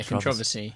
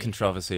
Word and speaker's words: controversy: You take controversy. I'll take controversy. Controversy. Yeah, trust you to come up with a totally different. Don't want to mispronounce it. You're putting the emphasis on the wrong syllable.